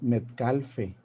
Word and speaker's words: Metcalfe: spell each letter and we say in Spanish Robert Metcalfe because all the letters are pronounced in Spanish and the um I'm glad you pronounced the last e because many there are many metcalfs who don't have the e at the end okay but I have the e at the end so thank you for pronouncing it Cafe foreign yes go